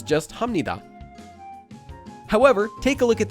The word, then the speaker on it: 합니다: We previously learned that this is pronounced 합니다 because there's the consonant 비읍 that's followed by a nian.